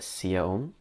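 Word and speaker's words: Siya Oum: I think the variant artist is Sia Om. That's how you pronounce her name.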